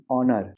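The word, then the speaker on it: honour: हॉनर नहीं ऑनर।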